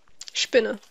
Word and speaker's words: Spinne: Spinne.